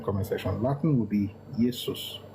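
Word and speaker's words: Iesus: Latin will be Yesus not Jesus will be yus. It will be spelled I E S U S.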